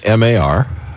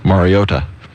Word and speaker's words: Mariota: No, you've got the emphasis on the O. Mariota. No, I don't. Mariota. No, that time you didn't. Mariota.